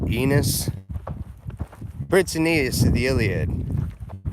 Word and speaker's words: Aeneas: ops I saved aeneas you can call me anus if you want I think most people pronounce it eNOS pretty nice in the